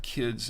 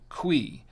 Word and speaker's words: Cuy: about this cqui uh I thought it said Ki and it's actually pronounced quei and this is what on again this is what the front of the wine looks like the bottle quei and you can see